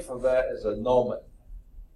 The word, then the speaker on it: gnomon: Now, another name for that is a gnomon. I think the G is silent, gnomon, okay?